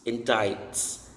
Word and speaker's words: indict: a higher position next in diets indicts indicts silency and subpoena so if